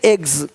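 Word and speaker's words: eggs: जैसे कि यहाँ पे रूप्स, यहाँ जा साउंड नहीं आएगा, लेकिन यहाँ पे एक्स नहीं एग्स।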